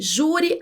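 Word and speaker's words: júri: Isso quer dizer que jure, a mais forte é a sílaba ju.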